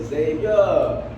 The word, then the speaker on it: Xavier: Everybody say Xavier.